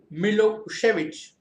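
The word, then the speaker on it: Milošević: A narrow-minded Serb nationalist Milosevic, pronounced Milosevic, had Milosevic had won the election.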